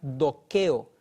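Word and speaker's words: δοκέω: En el idioma griego es una palabra que se pronuncia dokeo, y dokeo significa apariencia.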